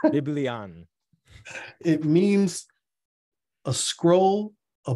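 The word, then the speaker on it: βιβλίον: Greek uh Strong's number g975 it means it's pronounced biblion biblion it means a scroll a book or writings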